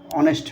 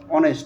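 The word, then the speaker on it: honest: এখানে দেখেন দি অনেস্ট ম্যান এখানে কি অনেস্ট এখানে এইচটা কি আছে সাইলেন্ট আছে আমরা তো অনেস্ট ম্যান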